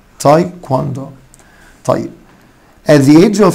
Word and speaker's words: taekwondo: تاي كواندو. خلي بالكوا الدبليو تاني منطوقة. تاي كواندو. تاي كواندو.